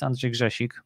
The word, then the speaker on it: Andrzej Grzesik: part is the introduction well my name is andrej jashik but i do not expect most of you to be able to pronounce that which means i go by